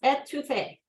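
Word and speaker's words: étouffée: Orleans version of Paola back to Faith uh pronounced etouffee uh comes from the French word to smother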